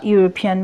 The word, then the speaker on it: European: Kamal is a European. Mr. Kamal is a European. ইউরোপিয়ানের আগে যেহেতু ইটা ইউ এর মতো উচ্চারণ হয়েছে তাই এখানে এ বসবে, এর না বসে।